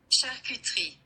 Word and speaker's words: charcuterie: Delicatessen is the English translation of the word because it is a French word, and it is pronounced Charcuterie.